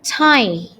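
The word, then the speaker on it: thigh: the lower tai paha Ya maksudnya ya bacanya Thai tha bon tulang paha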